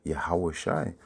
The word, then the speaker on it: Yahweh: serait Yeshua, Yeshua, ok, mais en ancien hébreu, la prononciation c'est Yahweh, ok, qui est une chose